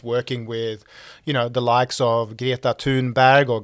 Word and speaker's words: Greta Thunberg: your time overseas working with, the likes of Greta Thunberg, or Greta Thunberg, as it's beautifully translated into Anglo, and Malala, and all these amazing things.